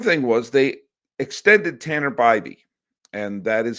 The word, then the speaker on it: Bibee: One thing was they extended Tanner Bbeby and that is how you pronounce his name.